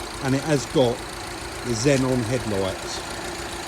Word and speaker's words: xenon: it has got the xenon headlights. I actually heard somebody the other day call them Exons because that's how it's spelt, and it did make me laugh.